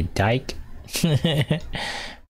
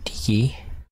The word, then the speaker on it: Diki: Now her name is Diki. Some people say Dyke. That's not her name. The mispronunciation of her name.